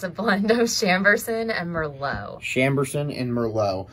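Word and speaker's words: Chambourcin: Lindsay, how do you pronounce that? It's a blend of Chamberson and Merlot.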